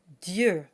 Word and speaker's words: Dieu: The next 2 words we have the letter I, pronounced E, that comes right before. And this combination creates a kind of y sound, and it gets its very own phonetic symbol. We have lieu and Dieu.